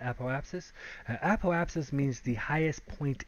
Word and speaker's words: apoapsis: went over our app apotheopsis I guess is how you pronounce that apoapsis apoapsis means the highest